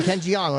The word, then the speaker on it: Jeong: Ken Jeong, right? Is that how you say his name? The Asian Oh my God, yeah. Jeong.